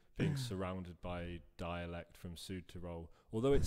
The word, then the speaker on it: Südtirol: It's nice that you pronounce it like Südtirol, because many English-speaking people pronounce it South Tyrol.